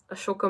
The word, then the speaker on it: Ashoka: Ashoka movie of Shah Rukh Khan. Yes, Ashoka. They call him Ashok, but it's spelled Ashoka.